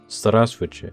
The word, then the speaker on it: здравствуйте: This word is pronounced as здравствуйте.